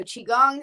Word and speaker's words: qigong: were talking about then there's also qigong so qigong is also another um form of basically energy work qigong uh i'll spell that for you quick it's q i space